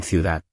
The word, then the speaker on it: ciudad: La de suave al final, como en ciudad. No digas ciudad muy duro.